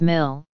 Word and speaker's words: ml: In spoken English, the symbol ml is often pronounced as mil, which is potentially confusing as this could also be interpreted as.